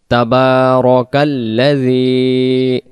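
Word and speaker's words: تبارك: তাবারাকাল্লাযী শব্দে শব্দে আমরা পড়ানোর জন্য চেষ্টা করব। কঠিনতম আয়াতগুলো বানান করাবো। তাবার অর্থাৎ তাবারা যেন না হয়। তাবারাকাল্লাযী, জেরের বাম পাশে ইয়া সাকিন, জেরটাকে আমরা এক আলিফ টান দেব।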